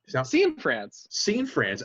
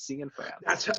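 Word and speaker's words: Cianfrance: Scene France.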